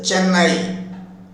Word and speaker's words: Chennai: died in Chennai Chennai but in English people are pronouncing this Chennai a double consonant sounding the double consonantly is not available in English or sounding the double consonant is available in Tamil but it is absent in English double consonants consonant